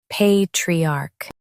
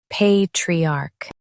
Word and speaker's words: patriarch: Both US and UK have the same pronunciation of this word, patriarch. Now read the syllables shown on the screen naturally. Pay, tree, arc, patriarch. Emphasize pay and keep tree smooth.